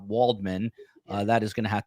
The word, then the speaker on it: Waldman: And COE, for the last 637 shows, I've been meaning to tell you, I think our voiceover guy mispronounced our last name. I think he says Walden, not Waldman.